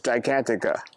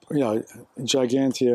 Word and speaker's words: Gigantia: So the way to pronounce it is Gigantica. Well, Gigantia in English with the G in Spanish is more like Gigantia, but that's how it's pronounced.